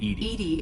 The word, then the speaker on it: EDI: why are you named edie is the phonetic pronunciation of edi where are you my